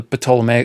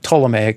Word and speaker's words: Ptolemaic: We went from various systems up to the Ptolemaic. I knew I was going to say Ptolemaic because I'm looking at it on a piece of paper. Ptolemaic, you don't pronounce the P.